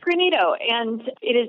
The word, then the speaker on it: Greenito: about the name pronunciation I was saying like granito and it sounds like that's kind of what you said is that name it's granito and it is not a a word that